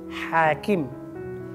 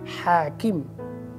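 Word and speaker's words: حاكم: going to teach you starts with ha, with Arabic alphabet ha. Ha. Try to say correct pronunciation, ha. Try again, ha, ha. And the word is hakim, hakim, hakim.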